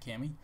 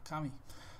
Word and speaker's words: Kami: I know I've been saying it wrong this whole time. I've been saying Kami, and I apologize. And some of you were nitpicking, so I learned to say it the proper way, Kami.